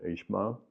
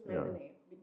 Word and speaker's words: Ismail Haniyeh: Well, the most prominent would have been Ishmael, who we met in Gaza. Ismail is Ismail Haniyeh, just because of the difference of the pronunciation.